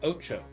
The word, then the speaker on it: OTXO: Pronounced Ocho or Ocho.